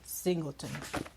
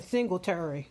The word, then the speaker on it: Singleton: Now, let's talk about The Untold Story, Bury Me in Motown by Raynoma Gordy Singleton. Yeah, I said it right. Child, I was saying Singletary. My bad, y'all.